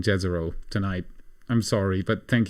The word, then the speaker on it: Jezero: Jez Aro.